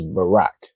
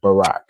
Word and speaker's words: Barack: You say his name is Barack. It ends in a qua, but because the ra and the qua are connected, it just ends up ending like rack, like Barack.